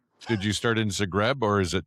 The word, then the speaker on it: Zagreb: Did you start in Zagreb or is it Zagreb?